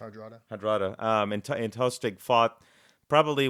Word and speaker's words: Hardrada: And so if you look at Harold and Hadrana, is it Hadrana? Is that how you pronounce it? Hardrada.